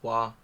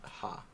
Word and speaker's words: は: Topic marker wa is always pronounced as wa, not ha, which you had brought up the idea of the two pronunciations associated with that before.